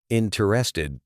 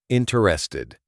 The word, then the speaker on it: interested: Interested, three syllables. Interested.